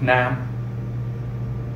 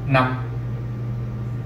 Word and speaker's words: năm: This makes the word pronounced faster. Nam, okay, versus nam. You see the difference, how like one word is stretched out, like leave versus live.